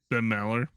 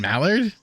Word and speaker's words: Maller: Ben Mallard? Ben Maller. Maller.